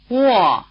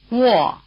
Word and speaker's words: Wò: The combination WO or UO is pronounced rather like the beginning of the English word "wall". Try repeating after the speaker. Lóng, Wò, Luò Again.